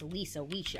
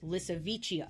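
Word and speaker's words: Lisowicia: walking the planet called lichia which I kept pronouncing as lisaa in my head when I was researching but it's lichia I like my pronunciation better but whatever it's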